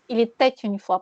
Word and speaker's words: il était une fois: Sauf qu'on prononce il était une fois. Pourquoi on dit il était une fois? Parce qu'il y a le T.